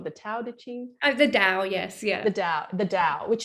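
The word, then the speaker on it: Tao: is all about the type you can probably pronounce it properly is it the dow di ching or the tau de chi the dao yes yes the dao which is actually interesting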